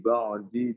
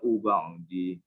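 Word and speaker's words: بعد: Wan nasara awliya ba'dum awliya ba'di. Bukan ba'di. Dimatikan saja. Awliya ba'd. Bukan ba'di. Ba'd. Ba'dnya di setengah disebutnya.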